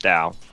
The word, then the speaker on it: Tau: Which, for those who know the word incorrectly, thanks to Logan, it is Tau, but actually pronounced Dow.